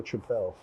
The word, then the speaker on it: tripel: pronounced triple or tripel?